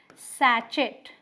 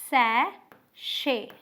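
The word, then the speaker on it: sachet: लग रहा है कि इसे बोलेंगे सैचेट, राइट, सैचेट, और बहुत सारे लोग बोल भी देते हैं बट ये गलत है। ये क्या है, सैशे, सैशे, ऑलराइट, क्या बोलेंगे, सैशे।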